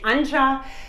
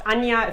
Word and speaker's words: Anja: to pronounce it because english-speaking people they say entre spanish-speaking people they say an aha so just changed it to but now change you to my real name because thought they should know and it's pronounced Anja if they don't German so it's already a lesson yeah remember it's done yeah that's how it's pronounced in German with a J yeah okay so